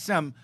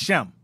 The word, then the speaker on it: Shem: Because in Greek, the letter S is pronounced with a sh sound.